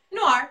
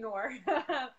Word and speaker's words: noir: Is that how you say it? Noir. Yeah, you did good. Noir. There we go. I was saying Noir, which is not right, I hear.